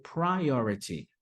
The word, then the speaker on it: priority: Então, a pronúncia vai ser priority.